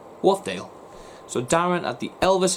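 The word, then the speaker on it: Wharfedale: good good best friend darren at elvis in wolfdale or yeah wolfdale fan club okay i'm going to spell that to you because i'm i'm not i'm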